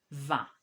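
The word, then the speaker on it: vin: wine is very because i n is pronounced as a va and with the article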